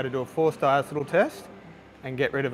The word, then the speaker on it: diacetyl: In Australia we pronounce it diacetyl. If you're an American you'll pronounce it diacetyl. A bit like the aluminium aluminum thing. So spare the comments. We say diacetyl.